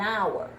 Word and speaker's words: hour: If the word before the article is a vowel, in this case it is still because the h is silent.